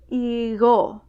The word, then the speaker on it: igo: Between vowels, it's a very soft G. You kind of have to pronounce G without touching the top of your tongue to the back of your mouth. Igo, egun.